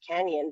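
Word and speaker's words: Cañon City: to canning City Canyon it's actually pronouned Canyon but it's spelled a Canon with a little squigle above the end a Canon it would be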